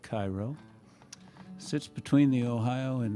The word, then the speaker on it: Cairo: And sticking with the love theme and it always not working out, a little song about the town of Cairo, Illinois, which is spelled like Cairo.